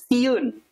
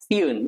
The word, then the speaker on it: siun: followed by another vowel, you would pronounce it as you slide the sounds. For example, laun. Yeah, laun. Laun means slow. Or maybe sai. Yeah, sai means good. Or siun. Siun, yeah, siun.